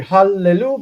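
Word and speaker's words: הללו: Anyway, hallelu, because it's Skinnem-Levy made the loss of the strong dagesh. By the way, Jason, and the 2 sounds together need to be pronounced.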